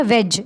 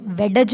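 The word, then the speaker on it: wedge: वेज, वेडज नहीं बोला, वेज। D इसमें साइलेंट है, ठीक है।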